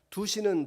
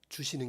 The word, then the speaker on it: 두시는: 두시는 복, 주시는 게 아니고요, 두시는, 제 발음이 정확하게 하겠습니다. 두시는 복, 이끄시는 복.